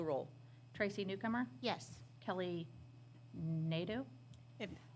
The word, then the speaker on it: Nadeau: Kelly Nadeau, If, my husband told me if you say it like meadow, but with an Meadow.